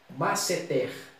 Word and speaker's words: masseter: Mas oxítona, relembrando, é aquela palavra, você contando de trás para frente, igual essa primeira palavra aqui, masseter. A sílaba tônica é a última.